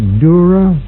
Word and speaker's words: Dura: Dura, Jr. Dura is spelled D-U-R-A.